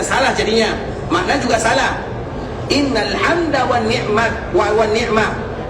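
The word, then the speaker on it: إن الحمد: Innal hamdah, pakai tamar buta di belakangnya. Kalau berhenti di dalam ejaan membaca bahasa Arab innal hamd, itu cara berhentinya. Tapi kita agak sedikit maju, innal hamdah, artinya nanti bisa jadi salah di dalam pengucapan.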